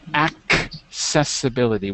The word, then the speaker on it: accessibility: okay math good accessibility accessibility with a k sound accessibility good stumbling stop